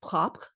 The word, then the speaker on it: propre: was once spelled, PROPRE, from French. And so that would be pronounced propre.